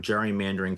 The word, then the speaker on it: gerrymandering: That's where this term gerrymandering came from. How they got from the hard G to the soft G, nobody really knows.